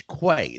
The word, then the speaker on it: Quay: shows Mike says me do you pronounce this Quay or qu I said it's Quay the sage of quay yeah yeah Sage I want to say qu well don't it's quay quay yeah that's funny it's